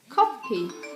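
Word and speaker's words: 커피: uh word coffee and how you pronounce coffee in Korean is copy okay yeah sorry it's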